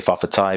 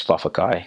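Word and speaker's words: faafetai: It's called a fafatai, which means thanks, and you say fafatai because the T is being respectful. And, if you're using it like in slang terms, just thanking somebody, like you would use fafakai.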